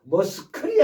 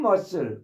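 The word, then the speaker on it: muscle: 이런 식에 어폼 mus머슬 여기서 C가 발음이 안 되죠. 머스클이 아니라 머슬입니다. C가 발음이 안 돼요. 사일런스. 자, 머슬. 어, 폼 머슬. 폼 머슬.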